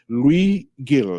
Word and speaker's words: Luis Gil: But today we have Luis Gil. Did I pronounce it correctly?